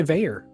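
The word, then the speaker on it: Vaer: tools to live by presented by Veer Veer is spelled v AE R of course veyor watches Chaz has his there I have mine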